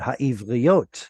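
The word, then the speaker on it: הָעִבְרִיּוֹת: Only this word right there. Please reread that one. העברית. But there's an O in it. העבריות. Very good. Ha'ivriot.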